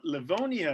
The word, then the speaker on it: Livonia: little bit about his uh background born in livonia michigan is that how you say it father